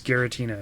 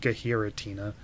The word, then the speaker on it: Giratina: And I was like, no, it's Giratina. It's not like Gahiratina.